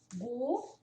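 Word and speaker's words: god dag: Quando vai passando desse horário, você já fala good do Gu. Lembra que não fala o D? O dog. A gente fala o ded do o g do dog. O dog.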